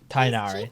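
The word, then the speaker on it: Tighnari: Tainari, that's how you pronounce it.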